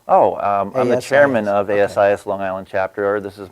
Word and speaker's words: ASIS: and I have with me mock Eklund from as is Long Island chapter welcome mock thank you Frank